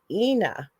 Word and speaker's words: Ina: her name actually, the reason why I pronounce it that way, it's Ina. It's not Oh, spelled Ina. that.